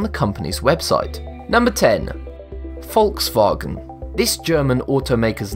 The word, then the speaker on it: Volkswagen: The German V is pronounced as the English F. The W is pronounced as the English V and A in wagon is pronounced as R. Therefore, you get folks vargon.